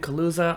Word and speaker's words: Kaluza: creator Spotlight today I am talking with Ben Kusa I'm your host Dustin P innovator thank you